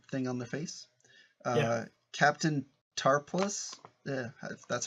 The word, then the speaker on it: Tarpals: with that weird thing on the face captain tar plus yeah that's how you say his name the